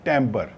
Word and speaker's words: timbre: इस वर्ड को हम प्रोनाउंस करते हैं टेम्बर, ऐसे लिखते हैं TIMBRE, टेम्बर।